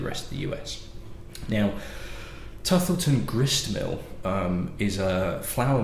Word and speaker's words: Tuthilltown: So, Hudson Baby Bourbon, saying it yet again, is from a distillery called, now I'm going to pronounce it Tuthilton, but it's spelled Tuthilltown, so it might be pronounced Tuthilltown as well, distillery.